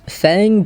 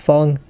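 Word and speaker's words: Feng: got a Fong before I used to call this Fang but apparently it's pronounced Fong so we try to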